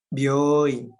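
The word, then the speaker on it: 病院: Byoin. Hai, bagus. Byoi. Ya, bunyi panjang.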